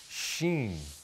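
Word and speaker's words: شين: The letter sheen makes a sh sound. Sh like the word shams, which means sun, or shajar, which means tree. Let's say it together. Sh, sheen, esh.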